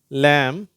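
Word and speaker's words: lamb: ஸ்ட்ரைட்டா டூ அப்படின்னு வாசிக்கிறோம் இந்த எம் பி ரெண்டு எழுத்து சேர்ந்து வரும் வார்த்தைகள் இதுல எம்முக்கு அடுத்து வருகிற பி வந்து சைலெண்ட் ஆயிடும் அதாவது உச்சரிக்கப்படுவதே இல்லை கோ லேம் தம் சரியா இந்த பி உச்சரிப்பு கிடையாது அடுத்தது கீ கோ குண்டு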